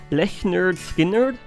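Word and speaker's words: Lynyrd Skynyrd: Leonard Skinner's 1983 album pronounced le nerd sker.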